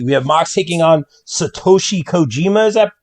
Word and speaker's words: Satoshi Kojima: ma said moxie we have max taking on satoshi kojima is that correct uh correctly pronounced attaboy that's it so again i'm not